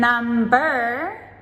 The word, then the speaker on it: number: Note that with the words numb, N-U-M-B, and number, they are completely different. So numb has the silent B, but number, now we pronounce that B.